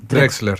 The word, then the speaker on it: Drexler: Aparte, vos sabés que ahora me estoy acordando que ¿se pronuncia? Drexler, sí.